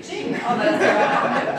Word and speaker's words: Qing: Qing. En allemand, là, on prononce encore autrement.